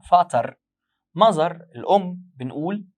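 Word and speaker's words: Vater: فازر اللي هو الاب، هنا بنقول فاتر.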